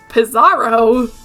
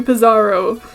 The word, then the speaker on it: Pizzaro: right to name you pizarro it's just a combination of pizza and bizarro so i had been saying it right this whole time get out of my